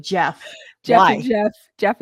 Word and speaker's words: Geoff: Who decided that Jeff with a J and Jeff Geoff were the same thing? Jeff and Goff. Right? But we're going to call it Jeff.